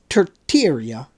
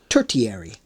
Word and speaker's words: tertiary: scene Epoch of the terteria sorry let's uh tertiary would be the pronunciation of that word so let's try that